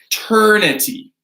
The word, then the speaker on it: eternity: So we're gonna pronounce that with a hard T.